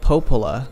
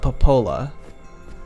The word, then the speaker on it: Popola: i'd better go ask popola popola popola devila come on wait it's it's not it's it's it's popola but not papola meanwhile it's meanwhile it's